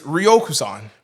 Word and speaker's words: Ryokuson: It's Ryokuson. Ryokuson.